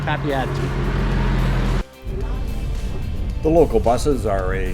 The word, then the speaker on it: Papeete: Papeete. Papeete. The local buses are a fairly modern fleet, run about every 15 minutes to half hour from the front of the resort down to downtown Papeete.